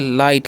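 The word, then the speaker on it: light: आगे लिखा हुआ है एल आई जी एस टी तो इसे हम क्या पढ़ेंगे इसे हम लोग पढ़ेंगे लाइट क्या पढ़ते हैं जी लाइट पढ़ते हैं और लाइट का मतलब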